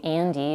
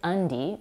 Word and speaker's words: Andy: When I told her the way she was pronouncing Andy, which in American English is pronounced with a vowel a as in cat, Andy sounded more like undie, which some people use as short for underwear, she was astonished.